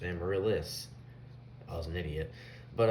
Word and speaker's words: Amaryllis: with amaryllis fun fact i did not know how to pronounce it right i would always do it as emma lass yeah like that like he does in the song because i didn't know that it was just amaryllis i was an idiot